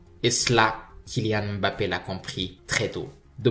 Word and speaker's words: Kylian Mbappé: J'insiste sur la prononciation. Okay. Il y a énormément de Français qui vous appellent Kylian Mbappé. Est-ce que c'est comme ça qu'il faut prononcer? Non. Ah, non. Mais voilà. Bon, j'aurais beaucoup de travail si je devais corriger tout le monde. C'est Kylian Mbappé.